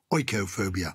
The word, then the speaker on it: oikophobia: know fear of aristocrats echophobia is not a fear of oix it's a fear of home things to do with the home oikophobia is that strange well